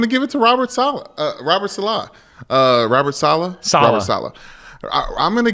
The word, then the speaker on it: Saleh: You keep pronouncing it the right way the first time and then pronouncing it the wrong way the second time. It's Rob Saleh. Saleh.